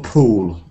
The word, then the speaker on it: pool: it's a common one sometimes called the uh pull pool these two words one is o a bit oo like P and the other one is pull shorter he can put not